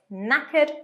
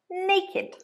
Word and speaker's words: knackered: Be careful of the pronunciation, it's knackered, not naked.